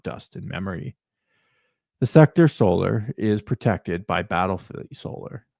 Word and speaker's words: Sol: The official title is Sector Solar, also named the Sol Sector, pronounced Sol, is the holiest division of imperial space within the Segmentum Solar.